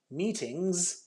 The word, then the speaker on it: meetings: lot of meetings today meetings with a z sound is a plural and